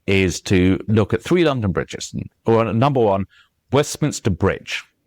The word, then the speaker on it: London Bridge: Whereas if you say London Bridge, it will be a little bit slower. London Bridge.